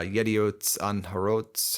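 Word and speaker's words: Yedioth Ahronoth: He gave an interview in December 2020 to the Israeli newspaper uh Yediot Anharot, I believe is how it's pronounced.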